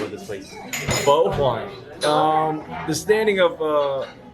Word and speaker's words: Phở Hoài: so yeah one question though how do you pronounce the name of this place bow wine um the standing of uh is of course